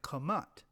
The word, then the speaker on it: Ham: And in the case of Kemet, arrived at Kamat, or Kemet. The name Ham, pronounced Kam, was derived from Kam.